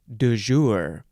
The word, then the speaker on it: du jour: the second word is you can pronounce that a few ways du jour various ways you could say do or duh it's an adjective from